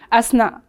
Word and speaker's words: Hasna: Ça se prononce Asna ou Asna? Asna. Asna. Comme A-S-N-A.